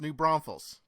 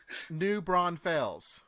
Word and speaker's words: New Braunfels: gotta like me cody yeah careful how you pronounce it it's new braunfels braunfels okay bronflux what's the way that people do it incorrectly so i can do that on purpose new braun fails yeah new branches is how yes that's how